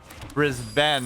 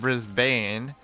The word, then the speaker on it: Brisbane: that's an N issue like brisben instead of Brisbane and then uh yeah